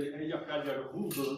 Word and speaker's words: Eyjafjallajökull: a few years ago in Iceland, at the Eyjafjallajökull. This is the pronunciation of this difficult word.